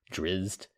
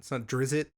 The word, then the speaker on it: Drizzt: Drizzed. We just pronounce drizzed slightly differently. Slightly. That's all. It's not drizzit.